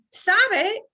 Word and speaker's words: sabe: Sabe is also knows. How come sé sounds so different from sabe? Sabe has 2 syllables. It's much longer.